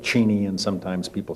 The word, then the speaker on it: Cheney: at the pentagon there is a story going around that before secretary cheney worked in the ford white house that he had pronounced his name cheney but when president ford called him cheney he said well if president if the president says that's my name it's cheney and it has been